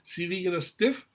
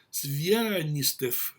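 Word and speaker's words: Звягинцев: casi imposibles de pronunciar, Svianastev, o mejor dicho, Svianistev, ¿ah?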